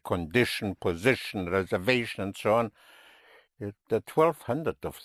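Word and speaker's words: reservación: And reservation would be reservation. Reservation. The V is pronounced with your lips.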